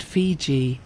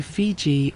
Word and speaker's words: Fiji: The Tongans pronounced Viti in their own way, closer to Fiji or Fiji. And the Europeans, hearing the Tongan version, carried that spelling home with them, and it became the name the world adopted.